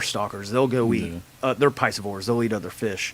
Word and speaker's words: piscivore: They're piscivores.